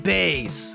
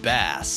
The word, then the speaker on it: Bass: But I think it's pronounced Bass. What? Well, I mean, you're supposed to be a fish robot master, right? That's why you got those fins on your head? No, I... Bass, like the fish.